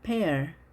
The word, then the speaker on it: pear: 자, 이중 모음이지만 짧게 발음을 했죠. A pear. 자, 이것을 pear로 발음하지 않도록 하시고요.